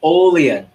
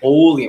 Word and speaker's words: Olean: Perfect. You actually said it right. Everyone say Olean. Olean. Everyone out loud so you remember. Ready? Olean. Olean. Okay, it's not Olean.